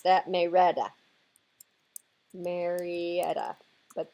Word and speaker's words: Marietta: pronounce that May Retta Marietta but they pronounce it may Rhetta I used to live